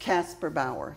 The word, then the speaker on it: Kasperbauer: And it's pronounced Kasperbauer, like Casper the Ghost and Eddie Bauer.